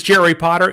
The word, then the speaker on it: Jerry Potter: My name is Jerry Potter. Yes, it rhymes with the Boy Wizard, host of the Social